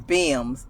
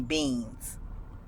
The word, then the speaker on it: Bims: But I got my revenge on my bully because he used to mispronounce my name and call my last name is Bims, but he used to call me Beans.